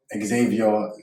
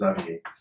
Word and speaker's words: Xavier: So it's it gets pronounced a lot. Xavier, but my name is Zavier and um known as as well.